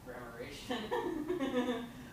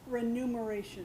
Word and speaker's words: remuneration: And then grammaration. I don't want to pronounce anything wrong, but grammaration. Remuneration.